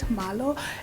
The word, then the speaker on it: Marlo: Yes, that's how you pronounce it, Marlo.